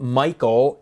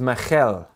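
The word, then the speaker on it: מיכל: not a ch it's not cha as people pronounce it it's not chata it's okay therefore when david married saul's daughter it wasn't michael it was michelle okay just a little bit hebrew because it's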